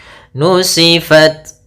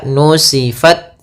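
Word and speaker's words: نسفت: Ta itu adalah syiddah. Syiddah itu tertahannya suara. Kemudian hames mengalirnya suara. Itu yang paling tampak. Maka nusifat pertama gitu. Langkah pertama at baru kasih hames.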